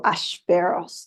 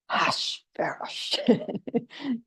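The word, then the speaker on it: Achashverosh: We have Haman, we have Vashti, and we have the king, who is Hashverosh or Ashverosh, depending, but Hashverosh is the pronunciation.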